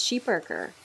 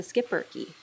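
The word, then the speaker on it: Schipperke: dryer originating in Belgium the correct pronunciation of their breed is sheep Burker but North Americans typically refer to them as the skiper okay I got to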